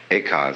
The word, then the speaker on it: Eka: Eka is Japanese pronunciation, like Zen is the Japanese pronunciation of the Chinese Chun.